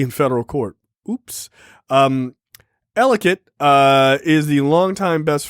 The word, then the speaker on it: Ellicott: is it elegant elegant it's pronounced ellicott in maryland i don't i don't think everyone else pronounces it that way everyone else pronounces that alicat i would assume yeah